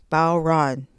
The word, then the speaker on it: bodhran: Okay, rhymes with cow and then ran. Bau Ran Now I got the word right and we're going to jump into the Remo Fiberskyn.